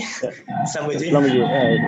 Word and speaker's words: Schlumberger: Did I pronounce correctly? Schlumberger.